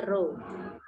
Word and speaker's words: rho: Simbolnya seperti P, itu namanya rho. Itu adalah simbol dari massa jenis. Bacanya rho.